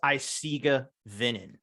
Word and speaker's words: Eisige Venen: Curtis from a site iciga venen doing vocals gotcha so it is isiga vinnin I uh I don't